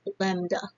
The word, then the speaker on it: lambda: The pronunciation symbol is lambda, L-E-M-B-D-A.